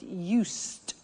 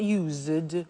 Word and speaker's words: used: to speaking Italian every day listen to the pronunciation I said us with a t sound us not used or used us that's very important to distinguish